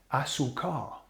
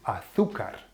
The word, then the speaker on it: azúcar: Another person wanted to buy sugar, came out of the shop not with the sugar because he was saying azúcar, azúcar, ¿vale? En vez de azúcar, with the accent, the emphasis on the U.